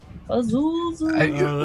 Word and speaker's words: Zuzu: Just think of the Gargoyle episode from Futurama. Zuzu. Well, you can just call him Zoo. Zuzu.